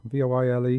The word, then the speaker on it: voile: They were made of really light, airy silk cotton, voile, V-O-I-L-E, how do you pronounce that?